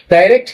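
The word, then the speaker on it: direct: ডাইরেক্ট narration অথবা ডিরেক্ট narration যার যেটা উচ্চারণ হয় সেটা আপনারা করতে পারবেন।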